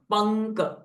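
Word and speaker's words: पङ्क: संसार पंक नि मन सो यर इट इ अनुस्वारा बट बिकॉज ऑफ द क साउंड इट जस बिकम अनुस्वारा साउंड इ ने जलाइज पंक ओके संसार पंक निर्म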